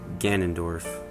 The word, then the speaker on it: Ganondorf: had any problems with this one either it's ganondorf ganondorf and the japanese his japanese name is